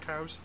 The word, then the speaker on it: Cowes: Yeah, there's the north tip of the Isle of Wight is a town called Cows, and it's spelled Cowes.